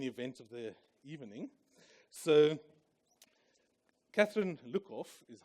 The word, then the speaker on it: Catherine Luckhoff: So, Catherine Luckhoff is how you pronounce it.